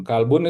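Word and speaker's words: كلب: Kalbun itu artinya anjing ya. Jadi jangan tertukar dengan qolbun ya.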